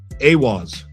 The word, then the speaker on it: Awaaz: You're building towards is it pronounced Awaaz? Huh? You are building toward Awaaz, the sanctuary for survivors.